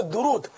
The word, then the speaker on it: درود: بھی نہیں ہوں گے، اصل لفظ تو درود ہے، لیکن عوام درود شریف بولتی ہے، تو یہ تو ہے ہی غلط۔ صحیح تلفظ ہے درود، دال پر بھی پیش، را پر بھی پیش، درود، درود پاک، درود شریف۔